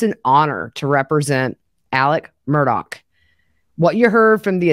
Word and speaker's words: Murdaugh: but I'm gonna say murder doc because that's how Alec pronounces his last name he says it's an honor to represent Alec Murdock what you heard from